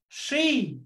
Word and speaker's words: she: She đọc là tròn môi cong lưỡi các bạn nhé. She, she, đừng có đọc là she các bạn nhé, hãy cố gắng đọc như là we, đúng không ạ? Bắt chước. She, she, không đọc là she, không đọc là she mà là she, she. Hơi we một chút, đúng không ạ?